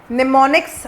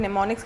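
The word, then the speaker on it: mnemonics: तो जैसे कि यूज़ मेनोमिक्स, ठीक है, दो इसमें M जो है हम उसको साइलेंट रख सकते हैं, बट I pronounce is like that. सो मेनोमिक्स में क्या करते हैं बेसिकली, निमोनिक्स आप कह सकते हैं इसे, मुझे समझेगा M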